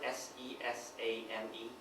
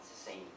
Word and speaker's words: sesame: You know, um, you know the word s e s a m e. Thank you. It took me three full years to know that it's sesame and not the same.